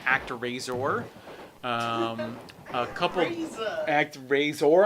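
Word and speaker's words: ActRaiser: razor um a couple act razor i believe it's how it's pronounced uh then also coming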